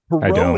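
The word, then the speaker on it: Pierrot: perau p i e r r o t pero is a stock character of pantomime and Comedia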